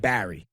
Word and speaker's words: Berry: my name is spell if you're from new york you pronounce it barry okay right yeah but out here out here they spell my name b-e-r-r-y i'm not a raspberry i'm not a strawberry they say it right out here barry had blackberry barry